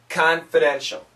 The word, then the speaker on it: confidential: Keeping many details, confidential. Keeping many details, confidential. It's a schwa sound. Confidential. Confidential.